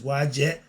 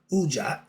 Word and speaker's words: Wedjat: The name of the eye of Heru may be pronounced as, what's that? Wedjat, which is Wajet. They pronounce it Ujat or Uchat.